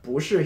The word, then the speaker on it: 不: Now, quick reminder, this character, pronounced 不 by itself with a falling fourth tone, has a tone change rule, so if it precedes a character with a falling fourth tone, it changes into a rising second tone.